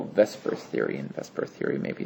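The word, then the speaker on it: VSEPR: and it primarily focuses on what we call Vesper Theory and Vesper Theory maybe isn't an accurate pronunciation of This Acronym but it's veent shell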